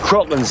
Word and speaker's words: Kraken: Crocland's how it's pronounced in the original Scandinavian. But what happened was Kevin McNally was the first character to actually speak the name of it, and he pronounces it Kraken.